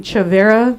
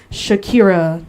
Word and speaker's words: Chavera: Like, instead of saying Chavera, they'll say stuff like Shakira or Chimera or Hey, speak!